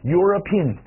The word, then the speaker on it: European: 就在后面加个 an，再来一遍，一起来，欧洲人 European。